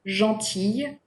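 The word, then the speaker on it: gentille: it in words like be careful though with the word jaunty its feminine form jaunty which means nice we do pronounce the sound when it is feminine but we do not pronounce the l when it is in its masculine form all right the two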